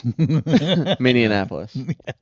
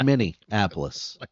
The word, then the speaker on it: Minneapolis: Minianapolis. Yeah, it's Minneapolis. You guys can't You can't even spell it.